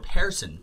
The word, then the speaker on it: Pearson: Yes, and it's Jacob Pearson, or Pearson, Pear, spelled like Pear.